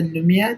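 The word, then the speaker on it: Lumière: So it's pronounced the Lumia, like TheLumire Films on Instagram.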